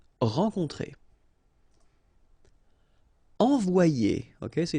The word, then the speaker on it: envoyer: Okay, so it's quite interesting because you've got this Y here, alright? But then if you've got one vowel before, one vowel after, then it will change like if it would be E here, one, and then a second E here. So you get the sound O-I, so it's wa, and then you get the sound I and ER, it's ye.